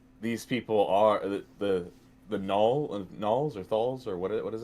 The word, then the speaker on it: gnolls: these people are the gnolls or thalls or what is it? Gnolls. Gnolls with a silent G.